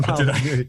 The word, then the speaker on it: Molyneux: No, you got it right. That's right, Stefan Molyneux.